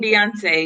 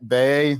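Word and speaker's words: Beyoncé: Hail to the Queen Beyonce. Yes. All right. She's 40. Milestone birthday. All right, Bay.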